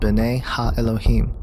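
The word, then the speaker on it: בני האלהים: of God mentioned here in the Hebrew is pronounced Binet ha Elohim the Septuagint which is the Greek translation of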